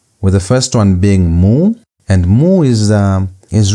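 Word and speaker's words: mu: The first one is moo. Moo has a sound as m the English m as in the word mother.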